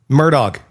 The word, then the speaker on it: Murdaugh: I I have not been able to think this entire segment because how the is this name pronounced? Murdoch.